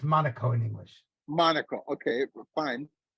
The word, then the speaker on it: Monaco: indendent country FR France France yes France it's pronounced Monaco in English Monaco okay fine and then uh